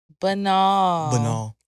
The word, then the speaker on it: banal: week is Bal say it with me Bal banal what do you guys think Bal means you know how you spell it b a n a l it's anal